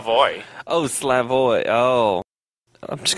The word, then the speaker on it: Slavoj: You pronounce the J. I mean, you can pronounce it, but it's got to be like a Y. Like Shlavi? Slavoj. Slavoj.